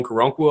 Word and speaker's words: Okoronkwo: Obo Okoronkwo, I believe is how you pronounce his name, out of Oklahoma.